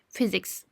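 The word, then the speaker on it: physics: Physex. Physex. Dikkat edin. PH'ler f diye okunuyor. Yani f harfi gibi. Physiks.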